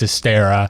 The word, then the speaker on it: Astera: It's Astera. All right. I do know how to pronounce things now that they have real dialogue.